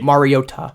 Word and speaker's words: Mariota: Yeah, Marcus Mariota or Mariota, sorry, that was confirmed this past week. Mariota.